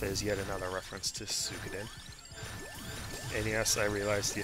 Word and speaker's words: Suikoden: And 108 health is yet another reference to Sukaden. And yes, I realize the official pronunciation for the... Well, no one. who knows this, is Suikoden. But I will pronounce it the way I want to pronounce it.